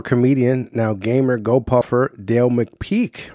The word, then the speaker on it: McPeek: Today we have Dale McPeek, right? Did I say it right? Is That's that right. How to properly pronounce it?